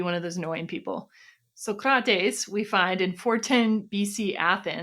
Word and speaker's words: Socrates: We now come to Socrates, or rather Socrates, which apparently is the way you're supposed to pronounce that.